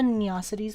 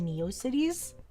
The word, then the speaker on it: Neocities: She just neosities instead of neocities. Can't she say both? Isn't both okay?